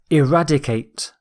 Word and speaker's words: eradicate: Our final word is eradicate. Eradicate. Stress is on rad.